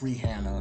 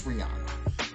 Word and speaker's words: Rihanna: they said we've been she said we've been pronouncing her name all wrong for like years it's Reanna or something like that it's Rihanna anyway she said it